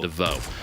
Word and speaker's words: divot: The T is silent, DeVoe.